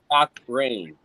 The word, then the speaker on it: Cochran: It's pronounced Cock Rain. Cock Rain.